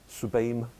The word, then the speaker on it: TSUBAME: I mean, there was a Japanese machine called it's spelled TSUBAME, Subame, built.